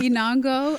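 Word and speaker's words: Enongo: is not my name my real name is inango which is a beautiful name and can you repeat again yeah yeah inango is my first name last name so beautiful it is and it Rhymes so I always tell people I was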